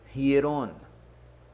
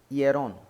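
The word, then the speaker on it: ἱερόν: Em algum dicionário, eles são assim, dessa forma, você vê essa acentuaçãozinha, que se pronuncia muitas das vezes hieron, hieron, como se fosse um som de R no começo, tá?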